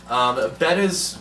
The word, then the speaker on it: betta: Right, so another kind of fish to talk about is betta fish, or you might pronounce them beta fish, B-E-T-T-A.